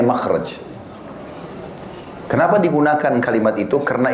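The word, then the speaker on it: مخرج: Inggris kan exit ya bahasa Arabnya itu mim Kha ra Jim bacanya makhraj Kenapa digunakan kalimat itu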